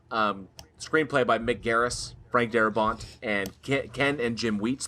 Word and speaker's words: Darabont: Because it's Frank fucking It's Darabont.